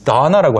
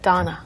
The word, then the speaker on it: Donna: 이 Donna라고 할 때 어, 이 발음이 영어에는 있지만 우리말에는 잘 없죠. Right, 그리고, it's not there. 네. Donna.